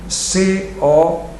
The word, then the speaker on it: Cohen: Mark, M-A-R-C, Cohen, C-O-H-E-N. Nós é que lemos Cohen, os americanos leem Cohen, simplesmente.